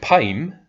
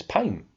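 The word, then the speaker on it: Pym: poem yeah I mean it's p-y-m how else would you pronounce that I mean him right here but never mind it's pain okay weird in the comics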